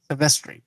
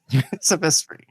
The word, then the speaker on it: Silvestri: Silvestri. You see? Thank you. Silvestri.